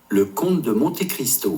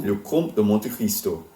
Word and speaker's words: Le Comte de Monte Cristo: Le Comte de Monte Cristo. Le Comte de Monte Cristo.